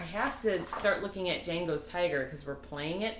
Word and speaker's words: Django: go it's so silly Django is spelled EJ but I never think of the J even though when you say it you say Django okay ah I'm looking